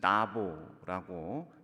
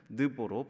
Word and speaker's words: 느보: 느보는 사실은 나보라고 그렇게 발음하는 게 좀 더 원어에 가깝지만 성경에서는 느보로 번역이 되어 있습니다.